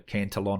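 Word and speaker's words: Cantillon: read uh you've probably heard of the cantion effect um or people pronounce it the cantelon effect uh that's from richard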